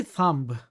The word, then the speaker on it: thumb: But when you say thumb, no, you don't pronounce B, right? There's no B sound.